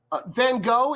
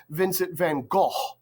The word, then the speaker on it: van Gogh: would have been pronounced Vincent Van go uh van go is the Americanized way to pronounce his name so I I still